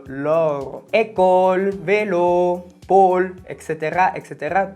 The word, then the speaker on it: Laure: El nombre de Laura en francés no sonaría Laura, sino Laure.